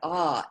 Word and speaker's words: Ah: At her throat is a red Ah, A-H.